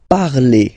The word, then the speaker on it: parlez: Let's see now for vous, vous parlez, okay? Remember, z, when you combine them together, you get the sound e.